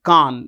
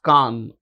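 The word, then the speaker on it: Cannes: Palm Dior at the 2024 KH Film Festival KH this is how it's pronounced KH okay it's place in France and it's a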